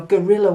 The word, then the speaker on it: guerrilla: G-U-E makes a G sound, and we have guerra, which means war, which is where we get our guerrilla warfare, guerrilla. Guerrilla is a little war, guerrilla.